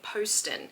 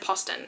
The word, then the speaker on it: Poston: dead Romantics by Ashley Poston um which I now know how to say her name I always said poon and apparently it's Poston so I'm really really